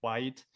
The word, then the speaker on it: quiet: And one thing that I really like about my washing machine, it's absolutely quiet. Quiet. So there are 2 syllables there, quiet, but also absolutely quiet is not very precise.